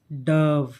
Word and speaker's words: dove: डव, व आधा है, इसको व को धीरे से बोलना।